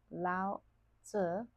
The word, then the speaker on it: Lao Tzu: To Lao Tse, pronounced Lao Tzu, the harmony that naturally